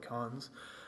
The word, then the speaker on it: Carnes: So it started by a guy called Mark C. Carnes, pronounce it like Carnes, a professor of history at Barnard College.